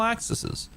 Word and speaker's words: axis: hand painted spins freely on all axises on all axis AIS that's the right Axis is the right way to say it while the continents